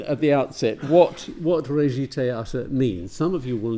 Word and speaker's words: Regietheater: a compound word that the soft G announces the fact that the first part is is really French in origin and it links to